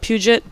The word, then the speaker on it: Puget: guys we're here with davey havoc and jade puget from black audio and afi it's your last